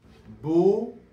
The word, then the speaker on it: beaucoup: Donc nous allons prononcer ce mot beau. Beau comme le mot beau. Tu es très beau aujourd'hui. Beau et coup comme le coup. J'ai mal au coup aujourd'hui. Beaucoup beaucoup. Voyons un exemple de phrase.